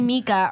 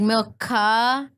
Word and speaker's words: Milca: My name's Milka, and people call me Mika or call Milky.